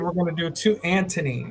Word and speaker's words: Antony: And we're going to do to Antony. It's spelled A-N-T-O-N-Y. Antony. Missing a letter there. No. Because it's Antony, not Anthony.